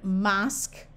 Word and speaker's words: mosque: Q U says like in the word mosque torque critique and technique notice in these words the U and e at the end are all silent mosquito is not French